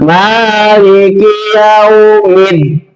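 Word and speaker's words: مَالِكِ يَوْمِ الدِّينِ: Ya, jangan maliki yaumiddin. Salah. Awas ya, ini perlu diperhatikan. Maliki yaumiddin, maliki yaumiddin. Tekanan harus ada. Ya, huruf yang berharokat ada tasdid berarti itu ada tekanan. Ya, cara membacanya ditekan, tetapi tidak harus berlebihan.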